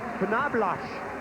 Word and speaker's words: Knoblauch: I just found out today that Knobloch in German is pronounced Knoblauch, and it stands for garlic.